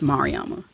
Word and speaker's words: Mariama: But typically, Mariama has so many syllables that people fuck it up.